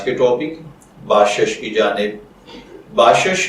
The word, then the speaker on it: باشش: Topic باشش کی جانب۔ باشش کی اردو املا میں جو حرف استعمال ہوتے ہیں وہ ہیں بے الف با، شین زبر شین شش باشش، جبکہ انگلش میں اس